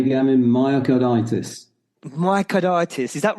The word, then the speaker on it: myocarditis: I was just about to say, Gavin, myocarditis.